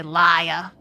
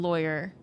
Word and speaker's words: lawyer: So he ain't rhyming it with But the first syllable in lawyer, I say lawyer, so it's boy. Like it rhymes with boy.